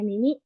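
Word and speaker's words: 耳: Ini ada kanji mimi ya, dibacanya mimi yang ada artinya telinga. Ini untuk bacanya ada mimi sama ji.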